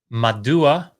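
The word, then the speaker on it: מדוע: shofar and he said madua which is one of the coolest words in biblical hebrew i don't know why sounds like medusa maybe that's why i like it but madua means why madua is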